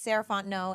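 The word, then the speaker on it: Sarahfont: again my name is saraon and you can find me at Ms sarant no so MSS r a h f o n t n o t the t is silent um that's me on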